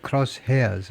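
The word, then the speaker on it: crosshairs: in the cross hairs of presents. Cross hairs 이발음 하는게 맞겠죠. 이제 헤어 우리가 머리카락 할 때 에어가 아니고 헤어라 그러니까요.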